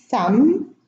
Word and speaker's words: thumb: So in these words, the B is not pronounced. I'm going to read them again. Thumb, bomb, climb, comb, tomb, lamb, limb, womb, debt, plumber, plumbing.